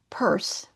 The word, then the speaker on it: Peirce: Almost simultaneously in the United States, Charles Sanders Purse, that's how you pronounce it, was conducting work in pragmatism.